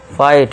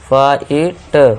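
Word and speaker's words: fight: फाइट जी H silent. फाइट फाइट।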